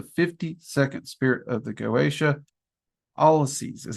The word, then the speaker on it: Alloces: Alloces is how I've always heard it pronounced. I've also heard it pronounced Alloces, but Alloces is how most of the people I've worked with have pronounced it.